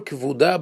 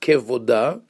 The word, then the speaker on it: kevuda: Kol kevuda bat melech pnima. Now the word, it's not kevoda, as it is mispronounced by all those modesty campaigns, but rather kol kevuda bat melech pnima.